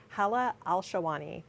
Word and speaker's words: Hala Alshahwany: With me today is a member of the Compostable Alternatives team and former member of the Mountain View Sustainable Task Force, Hala Alshahwany. Did I pronounce that right?